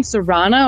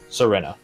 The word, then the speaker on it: Serena: Well, is it surname Serana or Serena? Serena. Serena, okay. Or technically Serena. That's how you spell it. Yeah, thank you. Serena. Okay. Serena. So, I just say it Serena, fast.